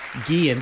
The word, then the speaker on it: Guillen: by the way, was informed we've been saying it wrong. Guillen, the double L. Mm-hmm. Yeah, it's confusing, for Guillen. white guys like me.